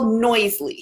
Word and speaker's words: Noisli: It's called Noisely. So it's spelled.